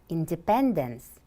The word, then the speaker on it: independence: yes it is now listen independence independence how many syllables are there there are four syllables which syllable is stressed the third one now repeat independence independence